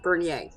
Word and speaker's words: Bernier: i side note here i did not know until i got into high school that my last name was pronounced bernier right because my family